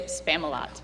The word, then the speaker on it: Spamalot: Answer is Spamalot. Rhymes with Camelot.